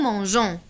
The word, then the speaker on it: mangeons: dire nous manque quand on ajoute un e pour prononcer gens nous mangeons la conjugaison des verbes